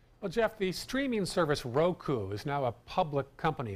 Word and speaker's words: Roku: The symbol is great because it's R-O-K-U, just the way the company is pronounced.